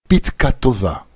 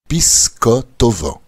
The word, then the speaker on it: Pitka Tova: À Hoshana Rabbah, nous saluons nos amis avec la bénédiction Pitka Tova, bonne note. Les Ashkénazes prononcent Pisko Tova, pour faire référence à